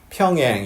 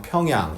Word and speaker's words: 평양: 그리고 평양 이렇게 발음하는 분들이 계세요. 영미인들이 그렇게 하는데요. 우리는 굳이 그렇게 할 이유는 없겠죠. 그냥 평양 이렇게 하면 됩니다.